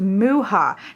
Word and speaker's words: Mucha: It is the Tarot, what looks like the Tarot Mucha, M-U-C-H-A, is pronounced Muha. The CH is a H sound.